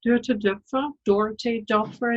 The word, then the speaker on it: Doerte Doepfer: My name is Doerte Doepfer, as it's pronounced here very often.